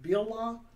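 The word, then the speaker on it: Bilhah: main servant's name was bill ha or someone might pronounce it bill law and so um she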